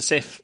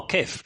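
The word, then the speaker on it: Cif: So it was called Sif elsewhere, which is ironic because here we wouldn't necessarily always pronounce the C as a soft C, so you go, oh, kif.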